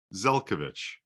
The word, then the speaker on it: Zelcovitch: pronounce your last name zelkovic believe it or not it's spelled phonetically so that people in North America can pronounce it so I guess the